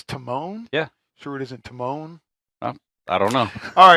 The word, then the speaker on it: Timon: Turtles Alvin versus timman Timone Timone from The Lion King the mircat what is it a silent e or something Timone that's a t i m o n oh Timone from Lion